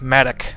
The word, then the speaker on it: Mattock: It's pronounced Mattock.